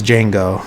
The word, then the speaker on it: Django: name and he says Django he's like can you spell it and he's like DJ a n g o the D is silent and he's like I